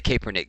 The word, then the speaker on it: Kaepernick: I say Kaepernick, damn it, that's how it's spelled.